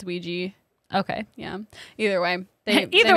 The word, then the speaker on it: Ouija: board luigi patent yeah i keep saying ouija yeah maybe you can say it either way it's spelled ouija but i think it's ouija okay yeah either way